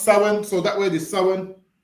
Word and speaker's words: Samhain: So it's spel but it's pronounced sin.